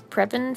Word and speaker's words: Prepon: Prepon food to cook, to eat.